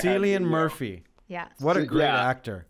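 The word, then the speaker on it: Cillian Murphy: one of my yeah i always say it wrong i say it wrong too i say it wrong all the time but i said it correctly right yeah celian murphy yes what a great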